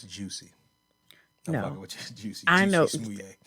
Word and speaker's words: Jussie: They pronounce it Juicy.